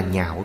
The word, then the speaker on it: nhạo: Ứng cơ thuyết pháp, Quan Hỷ thuyết pháp, đó là nhạo thuyết. Nhạo là vui vẻ. Ở đây chữ này không đọc là lạc, lạc là vui sướng, phải đọc là nhạo.